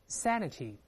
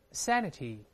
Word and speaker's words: sanity: 变成 A 的音大声念 Sanity Sanity 变成 A 这个声音神